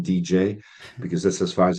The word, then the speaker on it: Didier: in the right way for most of my American friends I need to stop it at DDA and say it's like written DJ because that's as far